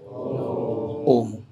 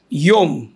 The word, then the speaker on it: ওম: তাহলে ভেবে দেখুন এত গুরুত্বপূর্ণ ওম কিভাবে বলা উচিত? ওম। ইয়োম। অনেকের আমাদের মন্দিরে একজন ভক্ত আছে, সে গাওয়ার সময় গান ধরে নমঃ ইয়োম, একদম স্পষ্টভাবে ইয়ম উচ্চারণ করে, তো শুনতে যারা জানে তাদের কাছে শুনতে কেমন লাগবে?